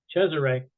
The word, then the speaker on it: Cesare: Harden for class, tell him that I pronounced this correctly, Cesare.